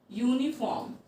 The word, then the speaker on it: uniform: Okay, uniform. But how will you pronunciate it? It sounds uniform, like you.